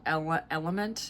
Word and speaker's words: LMNT: I got this like sample pack of this one brand of, it's like an electrolyte product called Element. It's spelled LMNT, and it has so much salt in it.